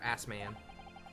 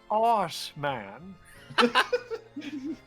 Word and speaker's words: Assman: Assman. He was another of the Reaper's victims, or so I heard. Mr. Ass Man. What y'all giggling Lord about? Berg, The he's butts. pronounced arse man.